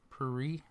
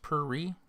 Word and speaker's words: puree: toxin right on man puree it's pronounced puri i don't know what